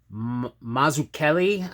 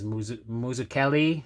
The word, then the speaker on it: Mazzucchelli: Miller and David Mazzucchelli, I believe is how you say it. I was trying to look up the pronunciation. I'm Italian too, and I'm butchering it, which is terrible. It's definitely not Mazzucchelli. I think it's Mazzucchelli is how you. I found a video of him doing some critiquing people's writing, and he of course started with the pronunciation, but pretty sure it's Mazzucchelli.